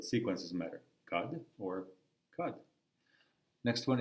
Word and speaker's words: kad: Kad or kad. Next one is the rhyme with kad, just like when rhymes with then. Kad rhymes with tad, then, tad.